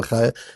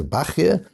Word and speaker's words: Bachya: We call him Rabbeinu Bechaya. The Sfardim call him Rabbeinu Bachya. And now because Sfarim are printed with Nekudot and they often put the Sfardi pronunciation, it's become common to call him Rabbeinu Bachya. But we grew up with Rabbeinu Bechaya. I never heard of Rabbeinu Bachya until I came to Israel. But both, of course, are correct.